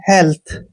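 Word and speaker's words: health: Next word है जैसे एच ई ए एल टी एच, यहाँ पर टी के बाद एच आया, इसलिए इसको हम टी का उच्चारण थ करेंगे, हेल्थ।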